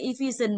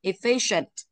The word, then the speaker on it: efficient: Bình thường là efficient bằng nhau đúng không? Đuôi sừng đảo ra trước nó là phi, nên phải mạnh vào từ phi ấy. Yeah, efficient.